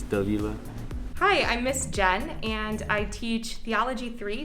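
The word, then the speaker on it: Jain: is spelled j-a-i-n so you would think it's pronounced jane like pain but it's actually pronounced jen as if it were like jennifer and that's because it is a hindi word um i am indian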